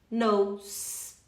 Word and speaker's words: know: Who knows? Igual o não, no, só que põe um S nele, knows. O K não é pronunciado.